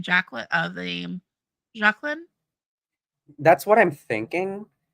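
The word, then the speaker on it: Jaklin: Zaklan? That sounds familiar. Oh, Jacqueline with a J, not a Z. Jacqueline. Okay, yeah. Okay, no, it's okay. It's ZH, so it's pronounced like a J.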